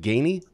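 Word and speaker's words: Ganey: 2022 press how do you say is it Gainey Chris Gainey uh 2022 press Guinea Human Experience guardian of excellent award say that again 2022 press Gainey Human Experience guardian of Excellence award that is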